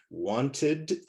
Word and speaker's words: wanted: So want, there's a T sound at the end. So id, the E is not silent. So want is 1 syllable, wanted is 2 syllables.